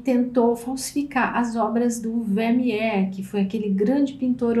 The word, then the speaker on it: Vermeer: Aliás, a pronúncia é Vermeer.